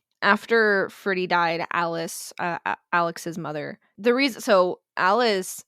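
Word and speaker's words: Alix: name but she was named Alex a l iix because uh people in Germany could not pronounce Alice's name properly so they named her Alexandra shortened to Alex with an IX because it'd be easier for the German language to pronounce but when spoken it sounds like Alice it sounds like her mother's name so that's why their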